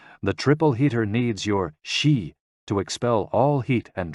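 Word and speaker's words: xi: with the spleen and X I pronounced like she which connects the whole body the following poem by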